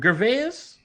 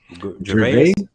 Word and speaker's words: Gervais: Gervais? Gervais.